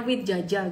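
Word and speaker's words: Widjaja: Sekarang ke grup Sinarmas, Frankie Wijaya Group, bacanya Wijaya gitu ya, Wijaya.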